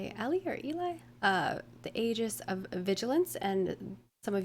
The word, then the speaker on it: Aegis: The Aegis of Vigilance. Aegis of Vigilance. Got it. I believe that's how you pronounce that, right?